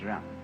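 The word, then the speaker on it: 仁: I don't know what they are but it's pronounced R and it's a character Chinese character that confucious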